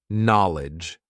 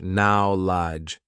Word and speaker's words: knowledge: So many letters, so many useless letters in terms of our pronunciation, right? Let's see what happens when we backchain it and when we write it phonetically. Are you ready? Lidge. There's only two parts now. Knowledge. There are only two parts, really, to the sound of this word, the pronunciation of this word. Lidge, knowledge.